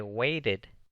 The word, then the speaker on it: waited: I waited for the bus yesterday. otra vez, porque el verbo wait en su forma básica termina en una T, si se pronuncia la E.